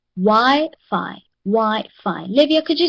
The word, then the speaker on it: Wi-Fi: Wi-Fi has 2 syllables. Okay. Each word is divided according to the number of vowels. Okay, according to the number of vowels. So if there are 2 vowels, it means that this one has 2 syllables. Okay, so the first syllable is Y and the next one is Fi.